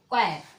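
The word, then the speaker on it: choir: एच आया है, तो एच जो है वो साइलेंट रहेगा। ठीक, इसको क्या बोलेंगे, क्वायर।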